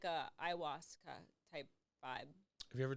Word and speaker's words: ayahuasca: And if we take away the stigma of it being illegal, it actually could be good and beneficial, kind of like a ayahuasca type vibe.